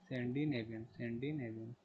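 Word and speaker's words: Scandinavian: तो एक कंट्री का नाम दिया हुआ है सेंडी नेवियंस है ना, सेंडी नेवियन, सी साइलेंट रहेगा, ठीक है, ध्यान रखना। स्कैंडिनेवियन।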